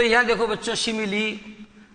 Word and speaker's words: simile: इसका प्रोनाउंसिएशन बच्चों सिमिल नहीं होगा, सिमिली। इसका प्रोनाउंसिएशन आपको करना है सिमिली।